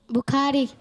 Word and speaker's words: Bukhari: बुखारी। प्यारे बच्चों स्पेलिंग पढ़ें।